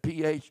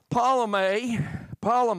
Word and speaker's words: Ptolemy: He covered a time that Antioch and Ptolemy, how you pronounce that? Ptolemy.